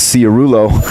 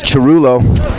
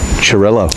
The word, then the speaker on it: Chirillo: I always thought it was Ciarulo. Well, it's spelled that way. It's Chirulo. Chirillo. Like Chirundolo. Churro. Illo.